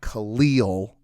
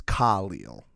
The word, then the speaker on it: Khalil: sounded a little crazy i heard him in an interview once say it's not khalil it's khalil okay so honestly the second